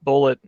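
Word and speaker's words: Bulleit: whiskey i think it i think it's pronounced bullet it's a b-l-l-e-i-t but that's the family name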